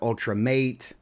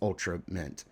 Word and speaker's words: Ultramate: we would know that it's not ultra mate or ultra mitt. It's ultra mitt. Like ultimate but it's ultra mitt.